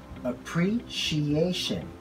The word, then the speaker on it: appreciation: Second, many of us tend to pronounce this word as appreciation. The correct pronunciation of this word is pretty similar to the word we discussed earlier. Appreciation. Appreciation.